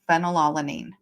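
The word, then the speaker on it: phenylalanine: Phenolanine. Okay. Even though that's spelled with a P, it says F right at the same spot.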